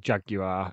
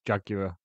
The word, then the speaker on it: Jaguar: I was watching some videos of him playing this in the last few years, and he doesn't pronounce it Jaguar anymore. He just pronounces it Jaguar.